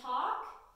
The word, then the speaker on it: talk: practice of that it words like walk chalk and talk we have the L that is silent so that a is still going to make that sound it's not a double